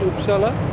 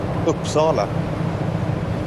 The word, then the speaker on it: Uppsala: You studied at Uppsala, right? That's right. Is that how you pronounce it? Uppsala? Nearly. Uppsala. Uppsala.